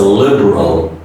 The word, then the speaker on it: liberal: Next is a liberal, liberal, O. The last L is pronounced as an O sound.